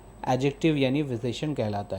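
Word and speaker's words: adjective: और तीसरा है एडजेक्टिव। एडजेक्टिव मतलब यहाँ पे डी साइलेंट है तो हम इसे एडजेक्टिव नहीं एडजेक्टिव पढ़ेंगे।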